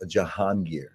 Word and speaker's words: Jahangir: So, the correct pronunciation is called Janir.